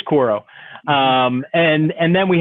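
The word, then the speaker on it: Quaero: uh cor chord q-u-a-e-r-o i can't pronounce quote it's not quoro i think it's koro um and and then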